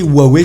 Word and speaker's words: Huawei: va me le dire vous pouvez prononcé huawei si vous le souhaitez et niveau marketing hors asie ils ont tout intérêt à le dire comme ça mais dire roi où il n'est pas une erreur c'est comme ça que